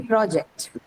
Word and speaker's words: project: how it works so when the stress is on the first syllable is going to be project right so the difference of the use as a noun or a verb is indicated through your articulation and what helps you